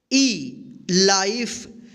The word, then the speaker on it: life: LINE, क्या होगा, लाइन, FINE, fine, LIFE, लाइफ। तो आप हमेशा ध्यान रखिएगा, अगर ई से पहले अगर कोई वोवेल आई आता है तो इस आई का आई उच्चारण होगा, लेकिन ई का कोई उच्चारण नहीं होगा।